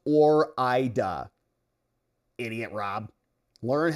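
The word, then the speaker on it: Ore-Ida: Hey, West Downer, it's pronounced Or-ida.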